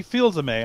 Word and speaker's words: Fils-Aimé: I saw Reggie Fils-Aimé. I think is how you pronounce his last name.